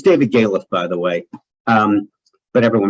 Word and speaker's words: Galef: It's David Galef, by the way, but everyone mispronounces it.